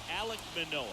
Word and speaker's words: Alek Manoah: If we can win today's game, ready to go, and our pitcher in this game, Alek Manoah. Oh, I nailed it. Nailed the pronunciation. Alek Manoah, 8 starts, 4-2 record, 2.72 ERA, 53 innings, 34 hits, 26 walks.